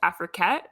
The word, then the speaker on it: Afriquette: Well, we also see that you're a curator for an account called Afriquette. Is that how you pronounce it? Yes, that's correct.